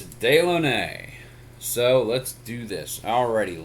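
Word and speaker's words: Dilone: got to tell you whoever came up with the pronunciation of that name is a crack smoker but it's day lennae so let's do this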